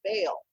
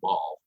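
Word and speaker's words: Baal: beer in that series called Bale and that's spelled b a a so immediately people are calling it ball right they want to call it ball so we were helping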